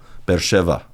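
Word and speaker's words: Be'er Sheva: is in the word, it'll be a v, like a English v. Yeah. Soft B, English V. Beersheva, not B.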